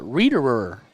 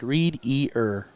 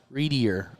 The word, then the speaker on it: Readier: Readerer. Okay. Readier. Readier? Okay. I'll figure it out. I promise. Say it like read-ear. Readier.